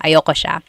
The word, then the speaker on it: ayoko siya: Usually it's pronounced ayoko siya. So if you want to sound a little bit more natural, you put everything together, ayoko siya. Ayaw ko siya is ayoko siya.